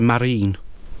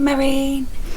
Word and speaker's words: Marijn: It's spelt M-A-R-I-J-N, which to me sounds very Swedish, maybe? What are you getting at? Marine. Marijn. Because they don't pronounce the J's over there, so Marine.